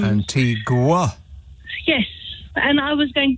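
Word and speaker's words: Antigua: man rang up about why Antiga does not is not spelled like it sounds Antiga yes and I was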